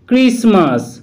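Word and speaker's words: Christmas: মধ্যে প্রথম যে টি লেটারটি রয়েছে তার উচ্চারণ সাইলেন্ট থাকছে। মগিজ মগিজ, ক্রিসমাস ক্রিসমাস ইত্যাদি।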